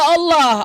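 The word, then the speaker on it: الله: Padahal kosakata Allah itu ada ilmunya di dalam bahasa Arab namanya lam jalalah. dia ada tipis ada tebal gitu penyebutannya.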